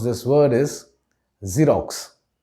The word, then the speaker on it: Xerox: pronounce this word is xerox just think of the tv channel z tv z rocks so you can shorten the z a bit and say xerox right it's not x